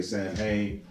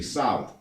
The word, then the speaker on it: Samhain: sa mh8 I in some people say Samhain but it's really solid alright I said some